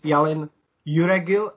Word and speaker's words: Yalın Yüregil: honored guest is Yalın Yüregil. Do I pronounce it correctly or not? Yes, beautiful.